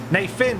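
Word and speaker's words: Nephin: Paul really appreciate it na fin is the correct pronunciation of it many thanks to Keen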